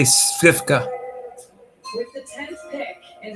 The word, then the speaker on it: Sivka: I say Svivka. With the 10th pick in the 2025 WNBA draft, the Chicago Sky select Aisha Sivka. Told you, Svivka. I just didn't pronounce it right.